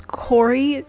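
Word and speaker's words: Khoury: last templar by raymond i think it's corey his last name is spelled k-h-o-u-r-y and i've currently reached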